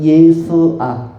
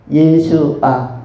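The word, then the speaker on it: ישוע: 더 어 구약적인 발음으로는 예수아. 예수아.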